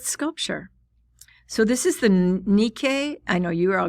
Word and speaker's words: Nike: So this is the Nikkei. I know you are all going to say Nike, but that's not the way it's pronounced. It's pronounced Nikkei of Samothrace.